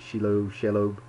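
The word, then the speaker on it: Shelob: but this whole little magazine is nothing but shalom's lair uh that's the that's how you say it shiloh anyway you know it's the spider that everybody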